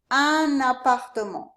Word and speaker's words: un appartement: Un appartement. Usually this un has a nasal sound, but when we connect it to this A, we actually do pronounce the N.